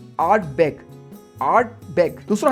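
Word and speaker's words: Ardbeg: एकदम प्रो की तरह प्रोनाउंस करने हैं आपने। पहला है आर्ट बेग।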